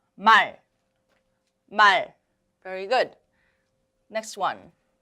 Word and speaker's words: 말: Remember, do not release the air. 말.